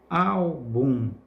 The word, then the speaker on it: álbum: Álbum, al é a sílaba que pronunciamos com mais força também.